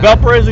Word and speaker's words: Valparaiso: Like, and I was like, I can't even pronounce it. Is it? Valparaiso. Valparaiso, there you go.